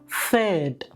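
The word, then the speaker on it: Pferd: നമ്മൾ ഇംഗ്ലീഷിൽ പിയും എഫും വരുമ്പോൾ എങ്ങനെ ഫ എന്ന് ഉച്ചരിക്കുന്നോ അതുപോലെ തന്നെ ജർമ്മനിൽ പേയും എഫും വരുമ്പോൾ ഫ എന്നുള്ള ഉച്ചാരണം തന്നെയാണ് ഇവിടെയും വരുന്നത്. ഉദാഹരണം ഫേഡ്, ഫേഡ്.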